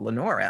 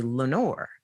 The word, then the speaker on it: Lenora: how hard is that but it's three syllables and a lot of american names have have um two syllables and so people would often drop off the a they would say lenore well i'm not lenore and so over time